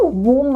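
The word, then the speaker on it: womb: इट्स a thumb thumb thumb come right so again B is silent माता के गर्भ में यू नो वूम मतलब ऑफ कोर्स वही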